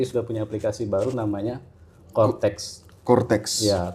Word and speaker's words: Coretax: punya aplikasi baru namanya Cortex. Cortex. Iya. Tulisannya C O R E T A X ya. Bacanya cortex. Betul. Tapi ada yang bacanya corak ya.